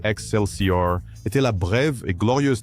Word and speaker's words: XLCR: Le Axel sier prononcé Excelor était la brève et glorieuse tentative de Harley Davidson de devenir punk rock.